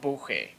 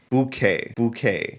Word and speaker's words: Buchheit: And for some reason, when I Googled how to pronounce his name, random YouTube channel has a video on exactly how to pronounce his name with 3.5K views. Paul Buchheit. Bouquet. Although when I actually Google it, it says it's pronounced Paul Buchheit. I'm just gonna say Buchheit.